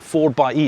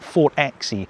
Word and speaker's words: 4xe: 4 by E. It's not 4xe, it's 4 by.